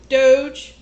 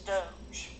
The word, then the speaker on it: Doge: Doge. It's like D-O-J. Doge. It's like Raj, except it's Doge.